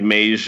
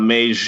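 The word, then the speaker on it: Meij: is Harold Mays now this is a Dutch last name so we're not sure if I'm pronouncing this correctly but it's spelled Mei J so I think mage is reasonable to think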